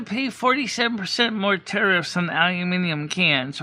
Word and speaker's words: aluminium: That's how you say it, aluminium. And then it results in microplastics. Yes, aluminum.